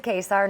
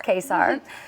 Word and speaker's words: Kacar: my name is quar not many people know how to say my last name pronounce quar also known as new